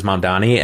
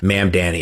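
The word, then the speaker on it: Mamdani: She also mispronounces Mandani. And then says the Democrats stand for nothing. She says like, "Ma'am Danny" or something like that.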